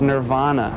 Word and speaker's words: Nirvana: canadians or anything but the way we pronounce the name of the band is nirvana it's not nirvana so i don't know